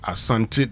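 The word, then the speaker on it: Asante: So you can say the Asanti dynasty and here we are referring to Kuwasaanti and his people descendants that if they get to rule people anyway.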